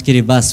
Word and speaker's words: Kiribati: a country called Kiribati the spelling is Kiribati but we have to pronounce carry bus which I do not